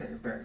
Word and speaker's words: Avebury: Or do you pronounce it differently? Avebury. It is Avebury.